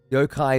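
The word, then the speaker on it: yokai: are to the Japanese yo-kai is the Japanese way of pronouncing Yao guy okay cool for the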